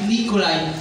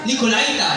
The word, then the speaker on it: Nikolaita: Nikolaita yan. Nikolaita yan. Mahihirap tayo mag-pronounce nito eh. Kahapon ko pa pinag-aaralang sambitin. Hindi makuha-kuha. Nikola. Ayan. Nikola daw. Wala. Bu ng Panginoon. Nikolite sa English. Tama. Nikolite yan.